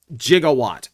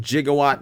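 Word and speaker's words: Gigawatt: Jigawatt. And I pronounce it Jigawatt because it's Back to the Future.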